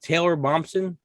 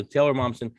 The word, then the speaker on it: Taylor Momsen: the grinchett stole christmas i always hear her name wrong is it taylor bobson yeah okay so taylor momsen and she's got a